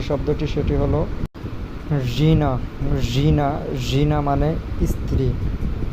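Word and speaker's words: жена: যে শব্দটি সেটি হল জিনা জিনা জিনা মানে স্ত্রী বা ওয়াইফ জিনা জিনা জিনা মানে স্ত্রী জিনা জিনা যখন উচ্চারণ করবেন উচ্চারণটা অনেকটা নাকের মধ্য থেকে আসবে জিনা জিনা মানে স্ত্রী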